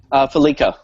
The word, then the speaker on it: FeliCa: Felica, whatever it is. Mobile payment technology developed. Am I saying that right? Felica, yeah.